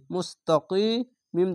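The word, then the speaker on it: مستقيم: তিম এভাবে উচ্চারণ করবেন মুস্তাকিম এখানে তিন আলিফ টেনে পড়বেন মাদ্দে আরজি হবে কেন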